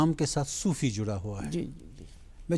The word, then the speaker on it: صوفی: اب کشمیری میں جو لہجہ ہے, کشمیری جو تلفظ ہے, اس میں صوفی نکلتا ہے. لیکن ایکچولی اردو یا پرشین میں صوفی ہے, یہ صوفی ہے پیش سے ہے.